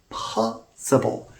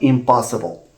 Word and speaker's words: impossible: impos four syllables imp the P here occurs in the second syllable so because it's a voiceless stop it has to be pronounced with this extra puff of a it's impossible impossible not impossible this is just one